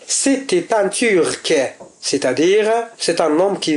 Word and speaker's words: turc: un adjectif masculin qui se termine par un C prononcé, prononcé. Et donc, au féminin, on dit c'était une turque. On remarque que le C du masculin s'est transformé en que au féminin. Pourquoi? Parce que le C se prononce K.